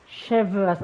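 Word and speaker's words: Chevreuse: I know they Captain chevas chevas oh so that's the pronunciation Chev oh you do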